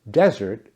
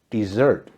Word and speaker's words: desert: Pronounced desert, it is a dry, sandy area. Camels are well suited for life in the desert. Desert. When it's pronounced as desert, it means to abandon or leave.